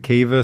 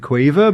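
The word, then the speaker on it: Caoimhe: Some people pronounce it Kiva, some people pronounce it Quiva, but it's Yeah. Caoimh. So down in Cork, it's Quiva.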